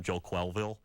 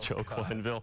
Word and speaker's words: Quenneville: there that mispronounces something the mayor when he called him Joel Quenneville instead of joking ville nobody gets the mayor